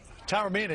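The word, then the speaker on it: Taormina: it tell her me Tower Mina yeah it's kind of like a fast tower than the mean and I'll tell you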